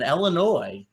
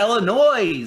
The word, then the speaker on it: Illinois: It's going to be a fun-filled day in Illinois. Yeah. Yes is silent. It's not Illinois.